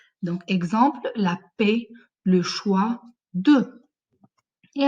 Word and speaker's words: choix: Un choix, ça va être dans la liste B. Bravo, parce qu'on ne prononce pas le X.